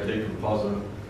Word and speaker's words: decompositum: Someone pronounced it differently last night, but I say decompositum.